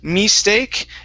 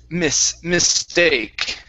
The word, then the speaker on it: mistake: And the last one is a short I sound in the word mistake. Instead of mistake, it's mistake.